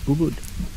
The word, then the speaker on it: Ubud: Ubud.